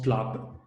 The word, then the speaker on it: PLAB: Il y a le PLAB, il se prononce PLAB.